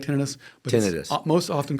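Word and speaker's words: tinnitus: Is that the way it's pronounced or is it tonitis? Most people say tenitis. Okay, emphasizing the itis, the inflammatory part of it. There's actually nothing inflamed. I like tenitis, but tenitis, most often called tenitis.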